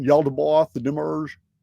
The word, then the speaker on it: demiurge: you know uh I demarge is that is that the correct pronunciation yald debath the demmerge yeah that's correct there are various names for this mysterious figure of the demiurge in the sic narrative materials right ya daboth